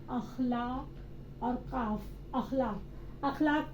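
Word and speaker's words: اخلاق: अखलाक को हम इखलाक नहीं कहेंगे, वो गलत प्रोनाउंसिएशन होगा। हम क्या बोलेंगे? अखलाक, इखलाक नहीं, अखलाक।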